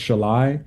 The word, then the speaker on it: Szalaj: It's pronounced shalai.